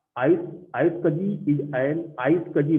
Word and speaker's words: iSCSI: तो आइस आइस कजी इज एन, आइस कजी बोलते हैं इसको बेसिकली, आइस कजी, ठीक है ना, प्रोनाउंसिएट इसका आइस कजी है।